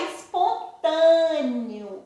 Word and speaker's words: espontâneo: Mas aí tá espontâneo. Espontâneo e é escrito com E. Mas na hora que eu pronunciei esse E, não apareceu o sonzinho do E. Apareceu o sonzinho do I.